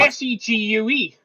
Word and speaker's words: segue: Not like Segway, like the Not that one. I I imagine the uh the vehicle being the Segway. It's not spelled like that. It's spelled like s e g u e.